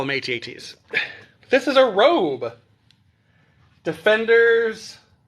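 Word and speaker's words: AT-AT: of me uh because when I was a kid I called them adats um that's just how you pronounced it back in the 80s we didn't know any better I guess or maybe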